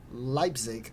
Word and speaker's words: Leipzig: top roster who's also going to oh god Leipzig I said it right nailed it is also